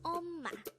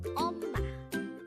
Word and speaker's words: 엄마: Again, it's 엄마. This is pronounced as a two-syllable word. The first syllable is the second syllable is ma. Pronounce it with me. 엄마, 엄마.